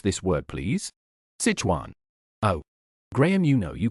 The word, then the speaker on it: Sichuan: How do you pronounce this word, please? Sichuan.